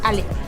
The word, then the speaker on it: Ale: Ale. Ali? Yeah, Ale. Ale? Yeah, like Alejandra.